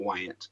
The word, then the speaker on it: Wyant: name is what Wyant like wyo and t but the like if